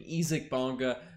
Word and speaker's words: Isaac Bonga: watanabe freddie gillespie uh isaac bonga which that is the correct pronunciation ezik bonga sam dekker and as